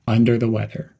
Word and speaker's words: under the weather: Emphasize the word weather and keep the words under the quick and connected. Keep the whole phrase flowing smoothly. Under the weather.